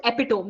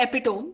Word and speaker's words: epitome: Now, this word, many people mispronounce it as epitome. The spelling is EPITOME. Now, many people say epitome, but it's actually epitome.